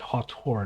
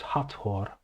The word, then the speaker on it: Hathor: And furthermore, the manifestation of the goddess Hathor. So this is not Hathor, Hathor. You need to pronounce the H.